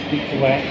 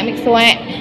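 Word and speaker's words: Mixue: Jadi harusnya bacanya Miku. Mikse atau mik apa? Mik suek. Mik suek. Mik suek. Mix suek.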